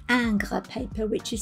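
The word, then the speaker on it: Ingres: 90 pounds in weight and it is called anger paper which is spelt i-n-g-r-e-s after john august anger who worked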